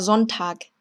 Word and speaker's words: Sonntag: Der Sonntag, der Sonntag. 자, 지금도 손탁이 아니라 Sonntag이라고 발음한 점.